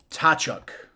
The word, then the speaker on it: Tkachuk: Tachuk.